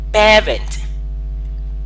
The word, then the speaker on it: parent: It is pronounced as parent. Parent. Can you come after me, please? Parent. So it is like you are producing two airs.